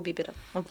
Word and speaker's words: Бибер: певцов пишут такое, да, у Бибера там 200 с чем-то песен, там и около Бибер, 30. правильно говорить.